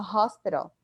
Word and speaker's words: hospital: Que em português a gente se escreve com H, mas a gente não fala esse H, né? Em inglês a gente fala hospital.